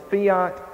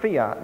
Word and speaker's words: fiat: This is what the word fiat means. I believe in America it's pronounced fiat, but this is a Latin word and it's pronounced fiat.